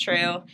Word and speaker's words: TRVE: So it's TRVE or VE, Yeah, yeah. Right. but it's pronounced true.